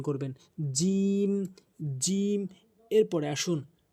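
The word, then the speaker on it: ج: এভাবে নরমালি উচ্চারণ করবেন এরপরে আসুন জিম জিম জিহ্বার মাঝখানের অংশটা জিহ্বার মাঝখানের অংশটা ভালো করে বুঝবেন কি বলছি জিহ্বার মাঝখানের অংশটা উপরের তালুর সঙ্গে লাগাবেন জিম জিম জিম জিম এভাবে উচ্চারণ করবেন জিম জিম এরপরে আসুন হা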